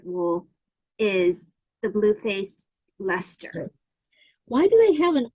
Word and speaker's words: Leicester: it's Leicester. Leicester, like Okay. Lester.